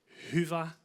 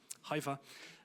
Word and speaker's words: Hyvä: Um, it's pronounced Huva. It's Finnish. Uh, but Huva or whatever also works. Hiva.